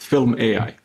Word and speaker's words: fylm.ai: Am I pronouncing it correct? Yeah, that's correct. fylm.ai.